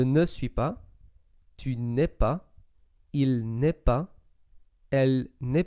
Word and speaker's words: pas: And pas, you write it with a final S, but you don't pronounce it. Once again, it's like a very silent letter. You have to write it, but you don't say it out loud. So it's pas, ne pas.